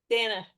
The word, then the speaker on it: Dana: Dana, rhymes with Hannah, banana.